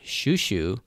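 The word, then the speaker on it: Chouchou: the English dub but in Japanese it's it's pronounced shushu like sh Shu sh Shu and that's how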